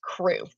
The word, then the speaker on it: QRU: It's inside crew." By the way, Quilting Rockstar University, the acronym on that is QR. I've declared it to be pronounced crew.